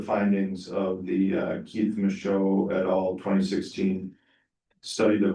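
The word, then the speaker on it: Michaud: Is it Micho?" It's French. So, Micho.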